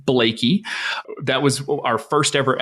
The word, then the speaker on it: Bleeke: so it is Nancy Blakey we always have to pronounce last names very clearly because people always mess them up so it is not Bleak it's not bleaky it is Nancy Blakey that was our first